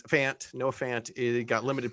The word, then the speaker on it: Fant: injury of note there noah font is fant no offense it got